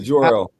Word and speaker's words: Jor-El: They obviously got Bradley Cooper to play Jarrell. Jarrell. What? How do you pronounce it? Is it wait? Hold on. It's Jarrell, right? Yeah, Jor-El.